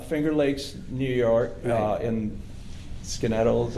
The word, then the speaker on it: Skaneateles: Lakes New York in skin idols or Skaneateles yeah I went to school in New York the only reason I know how to pronounce that okay and it was